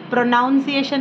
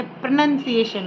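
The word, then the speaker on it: pronunciation: उनको भी आप करेक्ट प्रनंसीएशन सिखाएं प्रोनाउंसीएशन नहीं होता है प्रनंसीएशन होता है ओके देवर आर में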